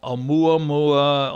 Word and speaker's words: Oumuamua: There's so much about it that did not appear, and I don't ask me to spell it, but it's called Oumuamua, like messenger from the heavens, from a distant, it's that's the name.